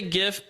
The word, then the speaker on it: GIF: GIF or GIF uh I say GIF because it's graphic interface files so I have to just think that the hard G stays uh and the final